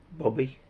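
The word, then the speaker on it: Bube: Jack in German is boob, pronounced Bobby. So that code, when they say Jack, is Jack to Bobby.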